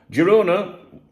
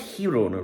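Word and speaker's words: Girona: Jirona, it's pronounced Hirona really, but this is the thing, you know, like you'll get Spanish people watching.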